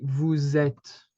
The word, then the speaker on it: vous êtes: Because the letter S in French is is mostly pronounced as a Z at the end of words or when it's followed by something, okay?